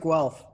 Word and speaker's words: Guelph: gonna forgive me if i i mispronounce uh guelph is that well if you got it well okay yeah yeah the university of guelph there you go but i i picked up